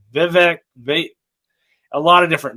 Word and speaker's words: Vivek: his name everybody says viveg Vivek a lot of different names but he finally came out and really tried to help us so what he said is it's V and it rhymes with cake well I think it